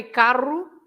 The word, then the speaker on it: carro: For example, it's different if you say carro and if you say caro. Okay. So it's the r, right? That is different from the r. So if you say caro, it means expensive. If you say carro, it means a car.